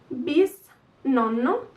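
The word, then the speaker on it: bisnonno: You add a bis in front of the word. Bis nonno, bis nonna, bis nonni. This bis, it's like the great in English, and in Italian it means two, so twice grandparents, bis nonni.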